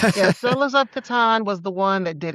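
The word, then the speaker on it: Catan: This thing called Settlers of Katan. That's what we were saying at then. But now the the katan people came to us and said, "You're saying it wrong. It's katan."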